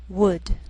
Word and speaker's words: would: Sometimes L can be silent, so you have to be careful. The first 5 words listed below are very common, so let's take the time to make sure that you're pronouncing them correctly. Listen and repeat after me. Talk, walk, could, should, would.